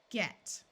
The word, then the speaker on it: get: This is probably the most common word where G is followed by an E and still has the hard G sound. G, at, get.